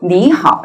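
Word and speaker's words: 你好: 일상 대화 에서 는 거의 항상 " 니하오 " 라고 말 합니다 .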